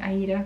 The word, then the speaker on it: Aida: I like to say Aida because that was the original pronunciation, and I love the musical play Aida, so And besides, Jean Farish says Aida, so I mean, how can you argue with her?